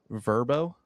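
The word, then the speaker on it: VRBO: This word is I'll spell it out for you. VR B O. Verbbo.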